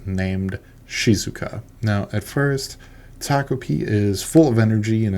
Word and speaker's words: Takopi: I've heard his name pronounced a few different ways, but we're going to go with Taki.